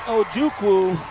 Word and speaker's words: Ojukwu: It's spelled O-J-U-K-W-U, Ojukwu.